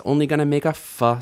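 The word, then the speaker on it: אף: This is af. Af. A, simple enough, and f. Af.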